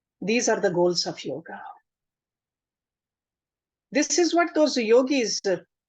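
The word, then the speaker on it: योग: The correct pronunciation of this word is yoga. There's not a big A at the end. In Sanskrit, it's a small A, yoga.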